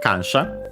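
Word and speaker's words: 感謝: And then we have kansha, a Chinese compound. So I think actually in this case, accent on the first syllable, and it is, so be careful.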